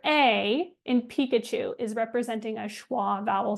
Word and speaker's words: Pikachu: For example, in Pikachu, we don't say pe au. We say Pikachu. That letter a in Pikachu is representing a schwa vowel sound.